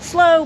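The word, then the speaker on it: Sloo: was the slow family pronounced slow but spelled s-l-o-o we don't have any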